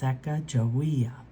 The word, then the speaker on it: Sacagawea: You say it like this, Sacagawea.